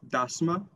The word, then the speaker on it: dasma: example is the word for wedding in standard albanian it is dasma dasma with the schwa in the end and this or is